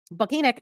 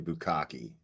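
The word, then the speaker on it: Bukhenik: She had been assigned to Station 1 on the You're not pronouncing it right. It's actually Bukaki, but go ahead.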